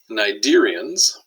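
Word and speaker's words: Cnidarians: not a bad deal nidarians no c sound that's a hard one that's one of the reasons i have to go through the slide here because you probably wouldn't pronounce it that way soft bodied carnivorous animals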